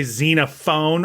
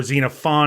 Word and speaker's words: Xenophon: you supposed to pronounce most people say Xena phone or xenophon because there's an O there but you would say xenophon look um I'm gonna